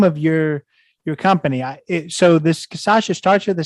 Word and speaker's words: Cachaça: And then my secondary goal, Brazilians already kind of know cachaça, so there's a built-in market there and a built-in demand.